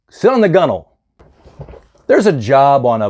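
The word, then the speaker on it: gunwale: called a g-u-n-w-a-l-e now I pronounced that gun whale seeing it for the first time but we pronounce it gunnel so don't say hey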